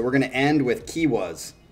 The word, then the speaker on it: Kiuas: He said it's pronounced Kiwas. And he said it's a Finnish metal band that's hard to describe.